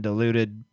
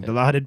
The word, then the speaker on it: Dilaudid: Justin says, I've been on morphine, Oxycontin, Vicodin, diluted, I said that wrong. Dilaudid, Percocets, Tramadol, Davocet, and Fentanyl.